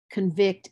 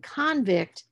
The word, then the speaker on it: convict: it's on the base then you have words like record record convict and convict and then depending upon the part of speech the stress is going to shift but the really useful